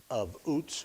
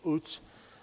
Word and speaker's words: Uz: The UZ portion of that looks the same in English as the UZ of Uts, where Job is from. Job is from Uts.